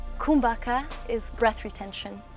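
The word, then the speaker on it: kumbhaka: it with the inhale so it sounds like kumbaka is breath retention it's pronounced kumbaka and it has a lot to do with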